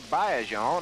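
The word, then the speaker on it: Baillargeon: We know Adrien Bleeron or Bayon as he tells me the correct pronunciation is.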